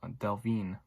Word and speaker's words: Delevingne: gonna try this I'm I'm not too sure how it's actually pronounced Cara Delevingne the delle Vigne I think is how it's supposed to be pronounced is dr.